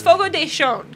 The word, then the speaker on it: Fogo de Chão: Like, I thought it was Fogo de Chão, but it's Fogo de Chão. Is how they pronounced it to us today because they corrected people at our table.